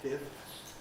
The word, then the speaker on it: fifths: but that's difficult so probably you ought to aim to say it in the the way that keeps each sound in fifths and sixths but of course it